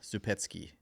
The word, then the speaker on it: Zupecki: So that's sort of the phonetic pronunciation. But in Poland, where it originates from, and I didn't know this until I was maybe mid-20s, it's Zupecki. Zupecki, yeah.